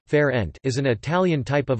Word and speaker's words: Fernet: Fernet Italian pronunciation, Fer-ent, is an Italian type of amaro, a bitter, aromatic spirit.